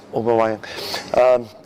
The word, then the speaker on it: Aubameyang: I think that Aubameyang, is that how we spell it? Yeah. Aubameyang.